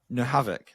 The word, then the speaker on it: Nohavec: Today my guest is the wonderful Nohavoc. Now, have I pronounced that properly?